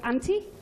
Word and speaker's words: Ante: Our principal artist, Mod Ante, is how you say your mod name.